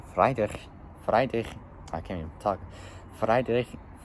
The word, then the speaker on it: Friedrichshafen: It took a while just to pronounce this word, but it's German. It's Friedrichshafen. Yeah, Friedrich. I can't even talk. Friedrichshafen.